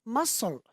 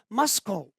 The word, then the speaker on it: muscle: The C is also silent in the following word. We have muscle. We don't say muscle.